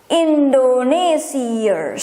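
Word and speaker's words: Indonesiërs: And in Dutch, don't forget, there's 2 dots here, I, to make it not being pronounced as I. 2 dots, I. With S for plural, without S for singular. Indonesia. Indonesiers.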